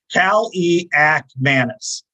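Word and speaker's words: Kaliakmanis: to their uh say okay here it is pronunciation guy uh that's eighth a fan I know it's Ethan Cali act Madness Cali Cal e act Madness redshirt freshman and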